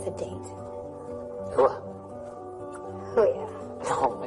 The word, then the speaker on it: hooah: Hooah. Oh, yeah. No, I said simply hooah. That's what I said. No, you said hoo-yah. You said that way earlier, too.